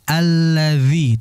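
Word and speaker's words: الذي: Kemudian tadi alladzi, hati di zal lagi, jangan alladzi, yang betul alladzi tipiskan. Kemudian yuwaswisu, jadi kayak sad, yang betul yuwaswisu, ya.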